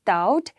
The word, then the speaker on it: doubt: a silent word in wrist now next is doubt in doubt i don't say b right d